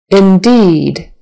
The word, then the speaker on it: indeed: the blossomed Blossom blossomed indeed indeed the the e is a long e indeed indeed always short